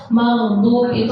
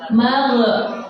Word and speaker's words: maghdubi: Nah, keseringan yang banyak kita temukan itu maghdub itu kan ghain itu bukan qalqalah tapi dibacanya magh.